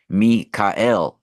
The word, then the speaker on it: Michael: Michael for our specific Mikael actually right we actually pronounced Michael wrong and this was this was given done to us deliberately so we lose the power of the word right it's actually Mikel saying Michael is like